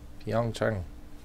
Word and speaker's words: Pyeongchang: Pyeongchang.